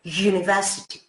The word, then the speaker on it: university: Es que university, en verdad, la transcripción fonética es como una J y una U, university.